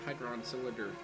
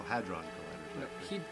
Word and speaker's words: hadron collider: all right wait wait you said you said hygron cylinder Cannon there lighter I can always mispronounce it hey John Carter oh hadron colliders head run is uh from uh zindagar matters